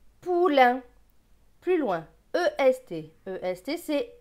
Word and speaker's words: poulain: P avec OU. OU c'est ou. P et ou, pou. L avec AIN. AIN c'est un. L et un, lin. Donc ce mot va se lire pou, lin. Poulain.